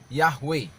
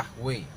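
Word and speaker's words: Yahweh: yang sulit untuk lafalkan maka ditambahkan huruf vokal diantaranya sehingga biasanya disebut yahwe ya Jadi ada penambahan I huruf vokal yaitu a dan A jadi menjadi yahwe nah kemudian dalam apa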